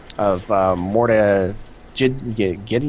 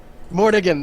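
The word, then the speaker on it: Mordiggian: on an armlet of Morta Giddy. Yeah, I don't even know how to say it. A bit of a tongue twister. Mortigan, thank you.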